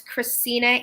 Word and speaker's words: Krisina: My name is Krisina. It's spelled exactly like my little tag here, but for the radio listeners, it's Krisina. There is no T in my name.